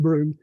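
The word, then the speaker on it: Brougham: a route bro braun by the way it's pronounced broom to get a route to broome in to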